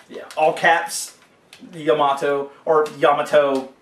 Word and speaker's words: Yamato: Or Yamato, I think is how you really pronounce it based off the giant Japanese battleship.